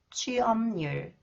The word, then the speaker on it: 취업률: Okay, when 리을 comes after the final consonants 피읍, okay, 리을 is pronounced 니은, and 피읍 influenced by 니은, it is pronounced 미음. Okay. 왕심리, 왕심리, 취업률, 취업률, 합리적, 합리적.